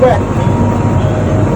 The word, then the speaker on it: Weg: ini dulu dinamakan sebagai Tugu Wek atau Tugu Wek. Tugu tulisannya Tugu, ejaan lama, Wek itu tulisannya WEG.